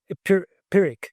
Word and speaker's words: Pyrrhic: How do you say Pyrrhic? Oh, the P silent. Yeah, no, it is a P. Pyrrhic. Yeah, Pyrrhic.